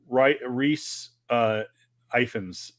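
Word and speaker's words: Rhys Ifans: By the way, I don't want to Reese Ifans, I believe, is how you pronounce it.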